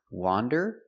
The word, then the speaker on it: wander: Wander with the open sound ah, wa, wander. And wonder with the closed sound uh, uh, uh.